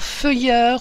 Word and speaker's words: Feuer: France de Didier Feuer et Jean d'andrecourt alors feuilleur je vais quand même vous les PL hein